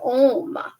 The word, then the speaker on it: Om: week about the word om and um so om is spelled a u m oh so so it's not o h m no it's a u m and it's a oh um so when you put